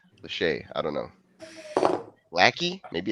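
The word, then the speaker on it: Lachey: Latche. I don't know. Lackey. Maybe it's lackey. 66 250. He didn't run a wacky until he proves himself. Red shirt is 13. Play 13 started. It's pronounced Lache.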